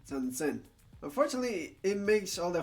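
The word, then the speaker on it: 三千: Japanese people have decided to make it easier on themselves by pronouncing them as Icho, Ropyaku, and Sansen.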